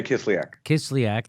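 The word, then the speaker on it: Kislyak: Sergei how do you say his name Sergei kiss-kiss lyac there you go and but what the other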